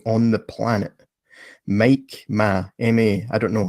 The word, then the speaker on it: Ma: the planet, Mike Ma, M-A. I don't know. How do you say your name? Please clarify that. Ma is good.